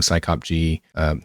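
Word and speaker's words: psycopg: job descriptions now I was using cyclop G that's how I pronounce this uh the uh the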